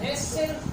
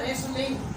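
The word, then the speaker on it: wrestle: अब रेस्टल, इसमें टी को रेस्टल नहीं पढ़ा आपने, वर्ड सुना होगा रेसलिंग।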